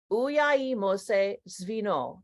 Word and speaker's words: Uyai Mose: and that it's spoken in Zimbabwe and it's pronounced Mori uyi Mose and they're in the chat so join me